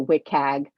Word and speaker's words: WCAG: We sometimes see this shortened as WCAG, or people pronounce it WCAG.